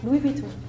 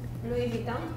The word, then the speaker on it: Louis Vuitton: That's why English native speakers just make fun of French people because we never pronounce the H, even in English. That's why. This one is Louis Vuitton. In Poland, Louis Vuitton or Louis Vuitton.